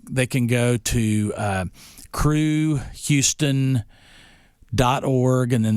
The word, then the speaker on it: Cru: but yes they they can go to uh crew Houston dot org and then there's a specific